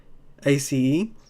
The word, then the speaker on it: ACE: And next up, we've got Illusion by GM Radar, illustrated by ACE. That's how you pronounce it.